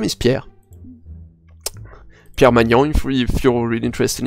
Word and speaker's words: Pierre: right which is a so my name is Pierre pure manually if you're interested in my last